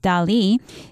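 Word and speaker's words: Dalí: is a spanish artist in spanish his name would be pronounced dali these two people swear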